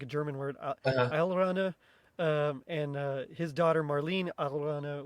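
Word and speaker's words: Alraune: Sorry, I looked it up how to pronounce it because it's like a German word. Allrana, and his daughter Marlene Allrana was kind of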